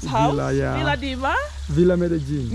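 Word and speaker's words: Medellín: Medellin? I thought it's Madeline. Oh. I keep saying Madeline. It's the same. Yeah. It depends on the pronunciation. Yeah. Actually, the real pronunciation is Medellin. Medellin. Medellin. Medellin. Is that Hispanic or French? But no, it's actually Spanish.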